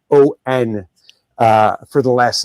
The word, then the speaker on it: Sammon: For anyone listening, though her name is pronounced like the fish, and she said this to me when I asked how to pronounce it, it is actually spelled Sammon.